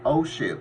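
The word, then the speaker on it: OSHIIP: number that you want to call is called osip it stands for the Ohio senior health insurance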